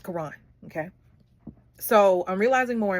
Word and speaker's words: Caron: Clutch Time by Caron, Butler, and Justin A. Reynolds, which I need the guy who did the voiceover. Make sure you say his name right. You said Caron. You said Caron. It's Caron.